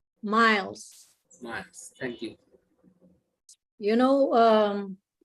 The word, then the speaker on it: Miles: Rita, Miles or Mills? Miles.